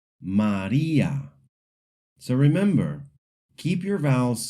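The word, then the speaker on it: María: And the word Maria, English speakers often say it like Maria. In Spanish, the I is a pure E sound. Maria. Maria.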